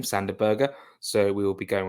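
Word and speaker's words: Sander Berge: That is how you pronounce his name, Sanderberger.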